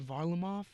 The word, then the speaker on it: Varlamov: And the play of the goalies, specifically, Grice is great, but the Russian Varlamov, I don't know how to say his name. They have him? Varlamov. Semyon Varlamov? Varlamov.